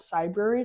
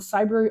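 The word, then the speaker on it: Cybrary: with a entity called Cyber. So it rhymes with library, but it's for cyber.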